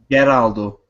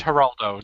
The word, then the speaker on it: Geraldo: haraldo did one awesome Geraldo no it's Heraldo that you don't pronounce the G ah God the the look on that guy's face it's the Heraldo show joose and that's